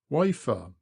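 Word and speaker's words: Wayford: up we come to wford bridge pronounced locally wafer here the Mast of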